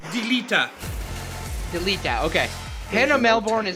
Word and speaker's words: Delita: How do you pronounce his name? Delita.